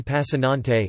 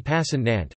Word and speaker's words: Passannante: Giovanni passin on teh Italian pronunciation devaney pass and Aunt February 1918 49 to February 14th 1910 was